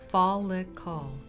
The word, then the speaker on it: follicle: look at hair anatomy first is the follicle pronounced fall look call it is a tube like pocket in the